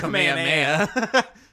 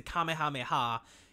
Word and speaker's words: Kamehameha: It's the Kamehameha. If you say Kamehameha, that's the Hawaiian King. Spelled the exact same way, but the pronunciation is different.